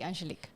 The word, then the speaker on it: Angelique: correctly but yes yes written down like angelica just to make sure but you just say angelique angelique welcome to the preference